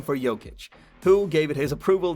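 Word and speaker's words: Jokić: Former Nugget Mike Miller coined the name for Jokic, who gave it his approval thereafter, because of Miller's issues with pronouncing Jokic, pronounced Jokic.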